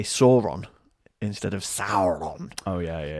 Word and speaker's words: Sauron: geek to come out and go, no, you're mispronouncing Sauron. Yeah. It should be Sauron because the AU symbol is pronounced OW in the Silmarillion Index for pronunciation of Elven and Mordor speak names.